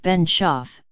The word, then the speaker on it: Benshoof: center dot M s been Chief pronounced been chef plotted the legal strategy